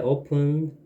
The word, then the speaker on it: often: I often borrow books from the library. I often borrow books from the library. often은 자주고 borrow는 빌리잖아. Often. often. Often. 는 안, 발음이 안 돼. 묵음이야.